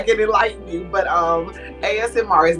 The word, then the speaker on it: ASMR: and they they said it was MSR as as as no you got me saying it wrong ASMR there you go ASMR so is that the